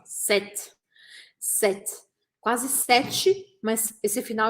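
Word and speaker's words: cet: e olha a explicação a gente usa esse set a gente fala assim ó set set quase set mas esse final é mais curtinho set a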